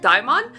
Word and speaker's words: DXMON: be checking out I it's pronounced Dion uh pre-debut this is